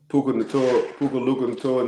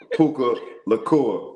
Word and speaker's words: Puka Nacua: Did I say it right? I think you're getting Puka Nacua and Luka Doncic mixed up, Mike. But yes. Puka Nacua. I'm sorry. Nobody thought Puka Nacua.